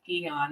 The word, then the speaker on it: AEON: patch and then wear another patch called EON. It's spelled AEON because it decreases 5 kinds of inflammation.